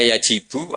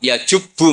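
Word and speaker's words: يجبّ: Terus Nabi ngendikan al-Islamu ya jubbu ma qablah. Itu bacanya bukan ya jibu tapi apa? Ya jubbu ayaktau.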